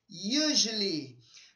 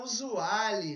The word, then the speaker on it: usually: Acontece de muitos alunos que estão começando a pronunciar usually, né, do jeito que está escrito. Então, eu falo para você ficar atento na pronúncia. E aqui, ó, é quase um sonzinho de J, ó. Usually, usually, usually. E o som do Y aqui é um I mesmo, né?